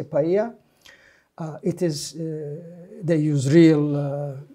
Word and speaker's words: paella: by like serious but Spanish people never pronounced L they just say Spanish or Cubans they say paella it is they use